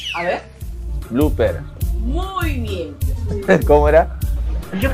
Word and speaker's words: blooper: Blooper. A ver. Blooper.